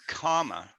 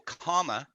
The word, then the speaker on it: karma: so it's interesting that the word comma k-a-r or k-h-a-r-m-a it's the same pronunciation as to keep calmer c-a-l-m-e-r yeah I mean keep can't keep calm yes yeah keep your karma karma yeah um you